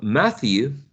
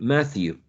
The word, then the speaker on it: Matthew: name was Matthew well Matthew is pronounced with this one Matthew with us right with this sound Matthew but he couldn't hear